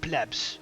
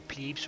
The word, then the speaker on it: plebs: In the insula live plebs or plebes or whatever you want to call them. It's just the way you prefer to pronounce it, to be honest. In the insula live plebs,